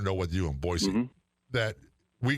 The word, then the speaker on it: Boise: They throw a Z in there. It's not Boise, it's Boise.